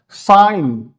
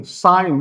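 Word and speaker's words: sign: साइन एस आई जी एन साइन उसमें जी का कहीं भी प्रोनाउंस प्रोनाउंसिएशन नहीं आया है। साउंड नहीं हुआ है।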